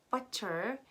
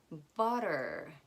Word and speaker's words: butter: comes between two vowels butter butter we don't say butter we say butter those are the sounds